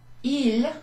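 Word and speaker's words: ils: Il, with an S at the end, which actually sounds exactly the same as that one.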